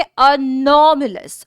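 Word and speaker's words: anomalous: pronunciation के साथ पढ़ेंगे वर्ड को प्रोनंसिएशन देखेंगे अनमल अस अ नोमल अस अनमल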